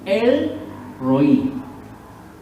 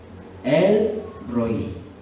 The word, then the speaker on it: El Roi: Ahora miremos un segundo nombre compuesto que se llama, o se pronuncia, El Roi. El Roi, o el Roi.